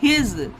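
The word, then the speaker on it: his: एस का सा उच्चारण यहां पर नहीं करा जाएगा गाइस। इसका एच आई एस इसका प्रोनंसिएशन होगा हिज। यहां पर एस को जा का जा का उच्चारण दिया जाता है।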